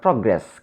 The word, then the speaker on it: progress: In the same way, the word progress consists of two syllables. Since this is a verb here, we should stress on the second syllable, progress.